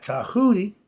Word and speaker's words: Djehuti: The god Tahuti, and it's spelled with a D. The Chinese and the Americans made a deal. We swapped out the D sound for the T, and they swapped out their T sound for the D. So when we see a D, it's pronounced Ta.